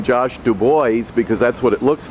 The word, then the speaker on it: DuBois: to pronounce his name josh du bois because that's what it looks like and we have dubois pennsylvania but he actually pronounces it the more correct french josh dubois you're good